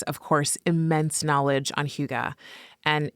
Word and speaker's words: hygge: And they embrace huga. That's the right pronunciation.